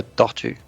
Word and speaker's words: tortue: well, if it's supposed to be the animal, it's a tortue.